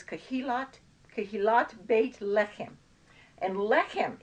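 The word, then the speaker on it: בית: him we have bait it's not pronounced bite it's pronounced bait and the difference is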